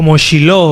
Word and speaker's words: Shiloh: Bueno, miren, vamos a explicar el significado de silo, o en el hebreo también se puede pronunciar como Shiloh, ¿verdad? Como aquí decimos Shiloh, no, pero es lo mismo.